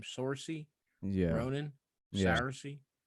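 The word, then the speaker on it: Saoirse: Sorcy Yeah. Ronan. Yeah. Sarcy. Sarcy.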